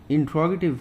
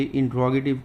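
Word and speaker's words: interrogative: Then B category, इंट्रोगेटिव pronounce. They are यूज टू ask questions. ये कुछ बच्चे इंट्रोगेटिव को इंटेरोगेटिव पढ़ते हैं, वो सही नहीं होता.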